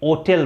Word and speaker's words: hotel: इज़ अ होटल, लेकिन कुछ लोग ऐसे भी हैं वहाँ पे जो उसको होटल नहीं ओटेल बोलते हैं, H साइलेंट होता है, तो वो लोग वहाँ पे एंड यूज़ करते हैं।